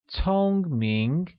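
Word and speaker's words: 聪明: smart translates as Tong mink which is pronounced with a high level tone on Oh and amid rising tone on I becoming Tong Ming here's a quick grammar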